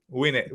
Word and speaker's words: Gwinnett: Gwinnett? Gwinnett. Win it, like you're going to win it.